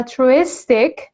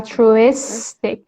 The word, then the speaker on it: altruistic: خب ولی وقتی میگیم altruistic میره رو سیلاب آخر altruistic. یکی ما قبل آخر البته altruistic.